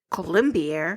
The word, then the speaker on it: Colombier: Michael Colombier?